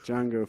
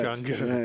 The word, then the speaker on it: Jango: Boba fettjango Jango Fett Jango yeah it's no it's not Jango is it is it Jango it might be Jango Fett I think it is but not with a not with a silent D not like Jamie Fox